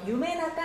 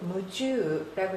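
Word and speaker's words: 夢中: 자, 이 중자는 한자 음으로는 주 또는 추라고 읽죠. 자, 뜻으로는 나가라고 있습니다. 자, 이 몽중이라고 해서 유매나가 아닌가요?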